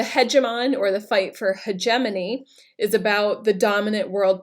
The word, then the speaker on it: hegemony: So we have questions about American hegemony today. That's how you pronounce it, and again, it describes who the current superworld power is.